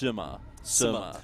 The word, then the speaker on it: Sima: Now, pronunciations, once again, are going to be hard because we haven't learnt them all yet, but it's Sima.